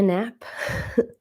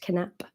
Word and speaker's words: Knapp: so my name is nap in Sweden it's pronounced canap but here in the states nap and I have been